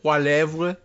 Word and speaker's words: Poilievre: Heading the Conservative Party is Pierre, I guess we sort of landed on Poilievre or something like that. Poilievre. But he was saying just sort of Poilievre or something along those lines, as I recall.